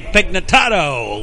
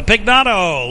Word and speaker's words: Pignato: Jeremy Pignatato leading it off. Pignato had an extra syllable in there. So Pignato leading it off.